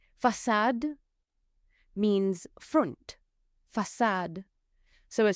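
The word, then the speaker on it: façade: the little squiggle underneath, then you pronounce it like an s. For example, sa sa means that gas gen means boy. So it's a s sound. Facad facad means front.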